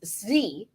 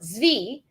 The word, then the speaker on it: Tzvi: It's pronounced Zvi. Sure. Zvi.